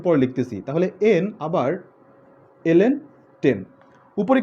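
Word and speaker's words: ln: অনেকে বলে লন, আসলে এটা লন না, এর উচ্চারণ হচ্ছে যে এলএন ইউজ করা হয়, লগ ন্যাচারাল, ওকে এলএন দ্বারা রিড করা হয়।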